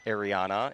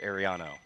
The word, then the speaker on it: Ariano: So, she wanted to make sure that we accentuated the O. It is not Ariana, it is Ariano.